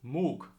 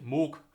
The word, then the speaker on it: Moog: of saying this is MOOC MOOC with almost like a K at the end you don't really say Moog you say MOOC and yeah I think